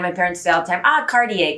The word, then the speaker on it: Cartier: the accents that's particularly where i come from is t sometimes are pronounced like a d hence the cartier from my family second thing to make sure that you remember is that there should be three actually syllables here so it should be